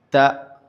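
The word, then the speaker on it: تاء: Puis nous avons la lettre ta, c'est l'équivalent de t en français. Donc elle est légère. Ta ta ta.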